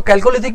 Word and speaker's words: chalcolithic: इसको मैं चैल्कोलिथिक, कुछ लोग इसको कैल्कोलिथिक भी प्रोनाउंस करते हैं, लेकिन वो प्रोनाउंस करने का अपना अपना तरीका है।